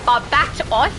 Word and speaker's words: Barbatos: And then we'll go and grab the Shadow Demon, and we'll go and grab Barbatos. Correct pronunciation, guys.